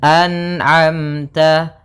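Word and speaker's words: أنعمت: Maka dibaca dengan anamta anamta. Nah, kemudian sempurnakan antara hamzah dan ain dibedakan a kemudian a an a anamta kemudian ta. Jangan terlalu banyak yang ta, tapi biasa saja ta.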